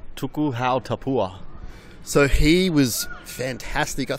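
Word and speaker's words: Tuku Hau Tapuha: What's the correct pronunciation? Tuku Hau Tapua.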